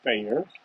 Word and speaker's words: Feyer: i appreciate it um my name is feyer pronounced fair i am an interdisciplinarian